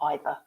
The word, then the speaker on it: either: Okay, then we talk about loading and unloading will be done entirely either, and in English you can say either or either. Okay, both pronunciations are fine.